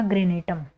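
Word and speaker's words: granatum: पूनिका पी यू एन आई सी ए पूनिका ग्रेनेटम ठीक है पिका ग्रेनेटम जी आर ए एन ए टी यू एम ठीक है पिका ग्रेनेटम पम ग्रेनेट का साइंटिफिक नेम होगा ठीक है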